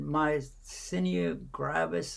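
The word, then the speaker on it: myasthenia gravis: that for a long time the daughter had my senior gravis i think that's how you pronounce it doctor how do you pronounce it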